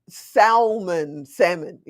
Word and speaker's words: salmon: So phone starts with an F, it's like, it's the words that, salmon, the L is silent, blah, blah, blah.